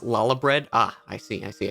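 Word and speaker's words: Lahabrea: elder daddy the pronoun the proper pronunciation is lala bread ah i see i see i see um so we kick out la habrea we actually managed to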